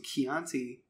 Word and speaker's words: Chianti: I bought some Chianti. Chianti? How do you pronounce that? Chianti. Chianti. Chianti. I used to date a girl named Chianti. Chianti. Yeah, C-H is key.